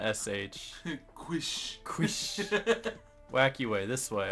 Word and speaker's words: quiche: Quish.